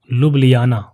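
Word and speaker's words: Ljubljana: लुबिया यह है लुबिया इसको प्रोनाउंस कैसे करेंगे मैं लिख देता हूं लुबिया ठीक है इसका यह सही प्रोनंसिएशन है स्लोवेनिया की राजधानी होगी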